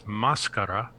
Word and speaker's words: máscara: Well, in Spanish, the word is máscara, and it means mask. Exactly the same word, different pronunciation.